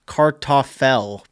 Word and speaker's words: Kartoffel: Potato in German is pronounced more like Kartoffel, but what you said sounded good, so go off, King.